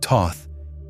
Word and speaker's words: Thoth: In that vibration, THOT, pronounced Thoth, is the consciousness that structures and organizes it.